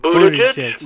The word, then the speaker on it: Buttigieg: how do you pronounce his name? Because I use an obscenity for him. Buttigieg?